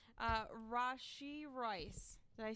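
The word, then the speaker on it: Rashee Rice: we have that one cheers all right uh Rashi Royce did I say it right Rashi rice I like it is it wrong did I say it wrong rushy rice is it really right yeah okay all right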